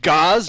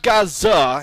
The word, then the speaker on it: Gaz_A: Yes, it is a silent A.